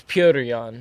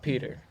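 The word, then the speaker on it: Petr Yan: and it's Piotr Jan, not Peter.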